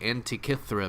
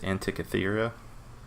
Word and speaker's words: Antikythera: all the time apparently I thought it was pronounced Antikythera again tikki thira but yours sounds better I'm sure that that's how it's said we I only knew how to say it because I watch videos yeah a couple documentaries and everyone was like Antikythera and that's all anyone ever said so I mean that's gotta be it what was we could